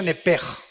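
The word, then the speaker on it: נפש: Apúntala como suena nepesh con sh se pronuncia nepej.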